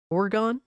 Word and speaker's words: Oregon: appreciate you pulling up why does someone who's not from Oregon pronounce it wrong there is no a so it's Oro or oron oron orgon cult classic grifter yeah